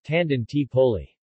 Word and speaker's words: Tangentopoli: was referred to as Tangentopoli Italian pronunciation Tandon T poly the term derives from